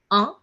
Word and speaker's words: un: One in French is being pronounced as un. Okay, a nasal sound is there.